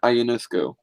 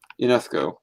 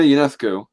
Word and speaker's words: Ionescu: It's also pronounced, it's Sabrina Ionescu. UNESCO. I can't pronounce my own name right, so I it's Ionescu? Ionescu. Sabrina UNESCO. Yeah, it's okay. One more time. Sabrina Ionescu.